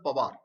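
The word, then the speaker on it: Panwar: That is P-A-N-W-A-R, but is pronounced as Pawar.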